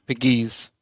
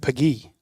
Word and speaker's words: Pegues: Pegues. JJ Pegues. See, I think they just said Peggy without the S.